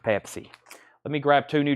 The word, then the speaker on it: Pepsi: Pepsi and everybody said yes Chad it's actually pronounced Pepsi let me grab two new Japanese pressings and